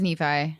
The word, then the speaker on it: Nephi: It is Nephi. Yeah, Nei rhymes with wifi.